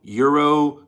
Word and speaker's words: gyro: And then I was corrected and someone said, no, it's euro.